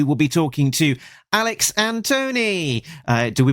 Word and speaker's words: Antone: So, first of all, it's Anton, and that's the main reason I am here to to officially correct the pronunciation of my name.